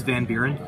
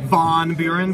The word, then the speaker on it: Van Buren: It's Van Buren. Not Von Buren, but I'll take it. There needs more emphasis.